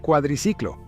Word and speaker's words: cuadriciclo: Así es como aparece la máquina, que a menudo se llama cuadriciclo. No es un error intencional de pronunciación de mi parte. El inicio del término realmente suena como cuadri, y este término era